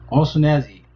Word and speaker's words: O'Shaughnessy: I keep messing this name up, which is funny. But O'Shaughnessy, that's how you pronounce the name.